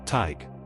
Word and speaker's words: Tadhg: Number nine, Tadhg. Pronounced like T Y G, rhyming with tiger without the er.